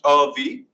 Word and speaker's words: Avi: My name is Avi. It's pronounced V.